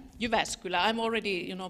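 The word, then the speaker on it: Jyväskylä: her schedule so welcome University of s : you vascular I'm already you know pronouncing it like a foreigner but it's you vascular it's a research university and one of the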